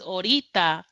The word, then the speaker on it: orita: Oh, well, so it's a it's a it's a it's the pronunciation more than anything cuz orita is the way a Puerto Rican would say it. We basically cutting the a off in the beginning and orita means later